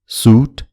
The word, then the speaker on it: soot: पहिलो शब्दमा पातलो स को उच्चारण हुन्छ र दोस्रो शब्दमा मोटो श को। सुन्नुहोस् है त यहाँ। suit, shoot, suit, shoot, suit, shoot.